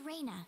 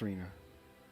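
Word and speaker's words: Rena: I haven't introduced myself my name is Rayna that's not it's Rina oh and uh I'm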